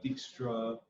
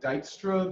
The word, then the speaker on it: Dijkstra: Dijkstra Dutch Dijkstra Dutch so it sounds more like Dijkstra than Dijkstra but really it sounds like neither it sounds like a Dutch pronunciation that's but I definitely